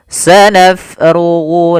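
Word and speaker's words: سَنَفْرُغُ: Kesalahan yang terjadi pada lafal huruf dia menjadikan hurufnya menjadi P. Sanabulakum. Ini kesalahan yang sering terjadi. Bagaimana supaya menghindari kesalahan itu? Yaitu kita alirkan nafasnya.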